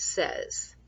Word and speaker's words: says: the tricky one is says because it's spelled almost like say with an S but we don't pronounce it that way the a Y in this case sounds like an e doesn't make a lot